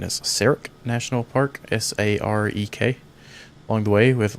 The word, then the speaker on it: Sarek: We'll be checking out I believe the pronunciation is Sarek National Park, S-A-R-E-K, along the way with Ron leading the pack tonight.